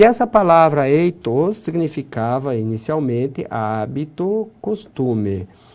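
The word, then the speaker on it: ἦθος: Então a pronúncia dessa palavra ficou eitos.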